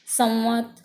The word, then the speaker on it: संवत: जब कभी भी प फ ब भ और व व्यंजन हो तो उसके आगे जो वो अनुस्वार लगता है वो म का उच्चारण होता है।